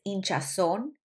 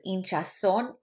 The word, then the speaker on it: hinchazón: And then swelling in the legs is hinchazón en las piernas. Hinchazón en las piernas. When you see this accent mark facing this way, that means that you're putting emphasis on that vowel.